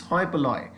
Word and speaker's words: hoi polloi: नो, पह में एच का प्रोनाउंसिएशन नहीं होगा, सो इट्स हॉय पलॉय. इट्स नॉट होय पलोई, इट्स हॉय पलॉय. हॉय पलॉय, एच साइलेंट रहता है, ध्यान रखिएगा.